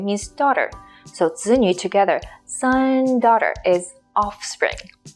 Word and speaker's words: 子: When it's used as with the meaning that's related to son or child, it's the 3rd tone down and up. 子, 子, as in 子女, 子女.